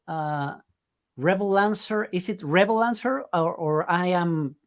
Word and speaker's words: Revolancer: perfectly I mean it's it's a combination of Revolution and Freelancers so it depends how you pronounce those two words okay amazing so uh